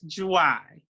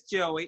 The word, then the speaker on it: Joie: It's excuse me. It's Joie. Joie. Did I say it right? Joie. It's Joie. Okay. And everybody says Joey. It's okay if you say Joey.